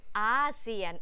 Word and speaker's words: อาเซียน: ขอ อีก ที อาเซียน อาเซียน ออก เสียง เหมือน ตัว ส นะ คะ เพราะ ฉะนั้น เรา มี ทั้ง เอเชีย เรา ก็ มี อาเซียน ไม่ เหมือน กัน นะ คะ ใน ทาง